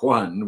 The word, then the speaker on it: Joan: really john miro but instead of spelling him juan which is the way you pronounce it they spell it joan which is very confusing anyway that solves that